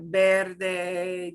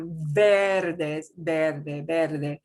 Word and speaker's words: verde: So you had some words like verde, you know, the word for green. It didn't sound like verde. Your lips come together.